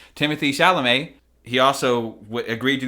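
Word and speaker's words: Timothée Chalamet: it's worth noting that Timothy shalam it is pronounced Timothy actually Timothy shalam he also would agreed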